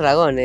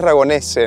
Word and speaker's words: Ragonese: Pero Pablito es Ragone. Es Ragonese, ¿no? Ragonese.